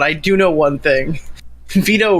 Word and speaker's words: Vito: Vito rhymes with pedo, so I'm not sure if that means anything.